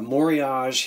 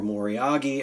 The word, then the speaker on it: moriage: the raised um uh moriage here or moriyagi as some of you like as some folks will pronounce it moriage or moriagi so it's really beautifully